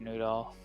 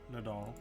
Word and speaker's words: Nadal: I do not know who would have killed Lord Noodle. Is that correct pronunciation there, DM? Nadal. Nadal, okay.